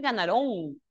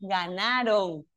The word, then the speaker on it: ganaron: No, porque no es ganarón, es grave ganaron, sino que como siempre hay muchas palabras agudas que terminan en on como corazón.